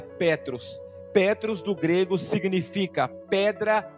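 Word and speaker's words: Πέτρος: grego e a e Pedro do grego se pronuncia Petros Petros do grego significa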